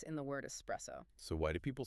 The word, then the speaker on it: espresso: It is pronounced espresso. Okay, I have to stop you there because I hear people say it differently all the time. I hear people say espresso with an X sound.